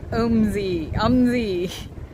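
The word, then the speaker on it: OMSI: Pronounced omsyz.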